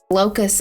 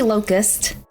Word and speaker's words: Locus: But so his name is Omnath, Locus of All. Is it supposed to be Locust? It's Locus. It's like completion is spelled differently, like locus. It's just, that's what it is. He's a locust, not a locust.